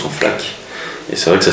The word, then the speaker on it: Flaq: a sorti comme ça dans le métro on prononce son FLAC et c'est vrai que ça sonnait bien premièrement